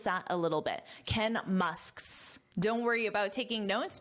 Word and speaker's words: Musk's: But then when you want to make it possessive, Musk's, sk, s, sk, s. So those are the three sounds. Sk, s, Musk's, Musk's. So feel free to practice that a little bit. Ken Musk's.